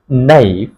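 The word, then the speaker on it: knife: জাহাজ একটি জাহাজ আ নাই কে এর পরে যদি এম থাকে ওখানেই কে সাইলেন্ট হবে কে will be silent a নাইফ একটি চুরি চাকু চাকু চুরি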